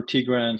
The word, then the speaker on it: Tigran: say your name is Tigran. Is that pronounced properly, or Ti- did I accent anything? ti- uh, what you said, or Tigran, so putting the Tigran. accent in the beginning also works too.